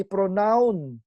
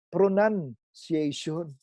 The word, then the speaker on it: pronunciation: spelling ng pronunciation natin walang letter O dapat yan pron hindi pronoun pronunciation and so kapatid tayo hindi